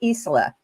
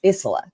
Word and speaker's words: Isola: Now I want to let you know that our guest next week is Reverend Kelly Isola. I said it wrong. It's Isola.